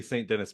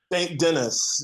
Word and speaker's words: St. Denis: one of the interviews, so I'm saying it wrong if I say St. Denis Medical, right? It's not. St. Denis.